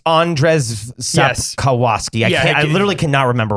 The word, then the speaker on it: Andrzej Sapkowski: can't remember what how you pronounce his name. Say his initials. It's Andrzej Sapkowski.